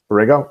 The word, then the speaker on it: Borrego: coach James Berber ego Borrego how do you pronounce it you know they Borrego Borrego okay verified per the Charlotte Hornets